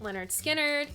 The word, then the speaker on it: Lynyrd Skynyrd: Then I have Unanswerable Lust by Luxuria, and some Lynyrd Skynyrd, pronounced Lynyrd Skynyrd, and Gold and Platinum, Greatest Hits.